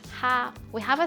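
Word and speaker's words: 蝦: stir in the scallions in cantonese prawn is pronounced ha we have a saying called which means smiling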